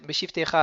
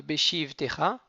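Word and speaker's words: בשבתך: Les bam, beshivtecha bevetecha, uvlertecha vadderer, beshivtecha, attention de ne pas ralentir sur le chi de beshivtecha. Donc beshivtecha, on décolle, bevetecha.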